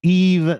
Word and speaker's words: Yves: Taylor's Sunny War, Algiers, James Brandon Lewis, Screaming Females, and Eve, that's spelled Yves because it's French, Eve Tumor.